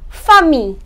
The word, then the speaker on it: famille: So, whenever ILL in French comes together, then double L does not have any sound. So basically, the pronunciation of ILL in French is E, or more specifically, we can say ear. So generally, we pronounce it as E. Okay, now these are few examples.